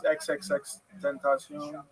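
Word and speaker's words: XXXTentacion: How do you say it? I mean, I think it's XXX Tentacion.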